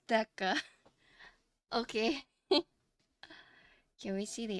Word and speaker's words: Theca: white because my lighting it's pronounced deca okay can we see